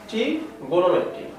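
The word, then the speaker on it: trigonometry: তো ত্রিকোণমিতি, যেটা ইংরেজি উচ্চারণ হচ্ছে ট্রিগোনোমেট্রি।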